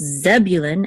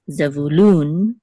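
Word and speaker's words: Zebulun: isar instead of and in English it's zebulin Accent on the first syllable but in Hebrew it's zul Accent on the last syllable and also with Benjamin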